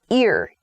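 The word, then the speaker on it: ir-: The next prefix is ear. So the pronunciation is ear, even though it's I-R.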